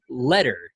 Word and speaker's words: Leder: am joined today by candidate for president Letter. Is that correct? That's how it's pronounced. That is exactly how it's pronounced. Thank you. I want to say leader and you probably wanted to say leader too, right?